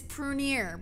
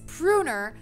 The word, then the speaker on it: Prunier: My last name is Prunier, but for all of elementary school, it was Pruner.